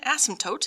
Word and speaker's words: asymptote: floating is actually an asymptote hence i use the word floating please understand the word asymptote is spelled with one s it is not a bad word and yes the p is silent and you will have